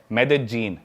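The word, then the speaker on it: Medellín: Colombia एक country है south America continent में, उसकी एक सिटी है मेदेजीन। स्पेलिंग में उसमें डबल एल आता है, मेदेलीन होता है, लेकिन कोलंबियन स्पेनिश में ल को ज बोलते हैं, तो मेदेजीन।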